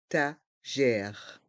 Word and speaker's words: étagères: Le S est muet. Les étagères de pain.